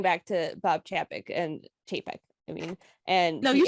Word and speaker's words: Chapek: something about going back to Bob Chap and chapek I mean and no you said right the